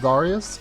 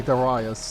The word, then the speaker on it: Darius: hard garayus and uh you might think it's supposed to be pronounced darius but it's actually darius i found out uh from a super fan the reason we're playing